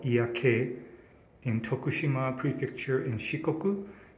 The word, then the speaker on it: 祖谷渓: are at ia valley in japanese it's called iaake in tokushima prefecture in shikoku and we are